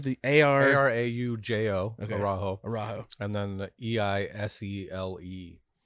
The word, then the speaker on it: Araujo: The Isley, the Arajo Syrah is my favorite wine I've ever had in my entire life.